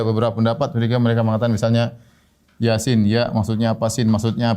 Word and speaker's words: Yasin: Toha, yasin, ya. Dan ini banyak dalam Al-Quran, ya. Seperti Seperti Toha, ya. Kemudian apa? Yasin. Dibacanya bukan toh, dibacanya bukan yes atau yas, bukan.